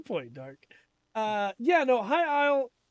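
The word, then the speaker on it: High Isle: getting the high-rise expansion i isle hi i'll thank you i'm sorry i have it right on the docket and still said it wrong um that was the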